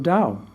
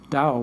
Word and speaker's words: Dao: taoism as we know is chinese right chinese pronounce the t like a d taoism taoism is based upon the principle of dao that's pretty simple dao which means the way dao literally means path